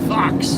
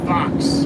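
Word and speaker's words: faux: Fox. I mean, what the is that? What kind of word is that? Fox. F A U X. You sound like you're saying fox. The animal fox.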